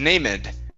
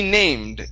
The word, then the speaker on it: named: it it would be named the E ending in most cases the E is not pronounced okay so this is named named okay give me a d there at the end named named okay all